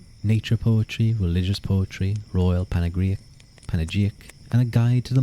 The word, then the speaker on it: panegyric: Is that how you pronounce that word? Panegyric?